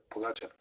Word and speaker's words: Pogačar: Pogačar.